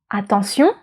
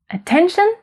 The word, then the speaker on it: attention: French stress is always on the last syllable.